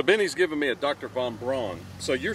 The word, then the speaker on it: Von Braun: But I just want to it looks like, friends, it looks like Von Braun. Uh-oh. But they pronounce it Von Braun.